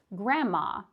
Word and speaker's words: grandma: It would be the same for grandma or grandpa. We don't pronounce the D.